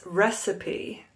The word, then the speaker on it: recipe: how do you pronounce this word recite it is recipe recipe this is my favorite brownie recipe do